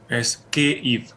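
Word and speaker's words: Kyiv: Es Kiev. Kiev. Es una pronunciación.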